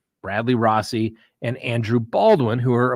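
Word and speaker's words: Rozzi: Gull filed Bradley Rossi I believe it's pronounced Rossy even though it's a zz Bradley Rossi and Andrew Baldwin who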